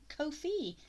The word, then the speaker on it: Ko-fi: it sometime but uh fun fact is Kofi rhymes with no fee so if you just remember that you will always remember it's Kofi no fee so that's just a